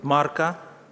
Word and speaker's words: Марка: Божого це Євангеліє від Марка Євангеліє від Марка я подивлюся подивися Огієнко ставить наголос саме на марка вчимося української правильної 9-й